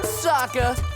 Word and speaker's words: Sokka: That's right, I'm Sokka! It's pronounced with an akka!